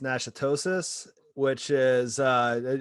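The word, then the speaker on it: Natchitoches: uh county is pronounced nashitosis which is uh obviously french like most louisiana i might be butchering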